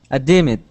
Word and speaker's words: deemed: deemed Okay, we're going to go to a D sound and not pronounce an id.